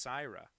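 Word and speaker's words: Cyra: Oh, it's pronounced Syra. Oh, that makes way more sense. Thus the C.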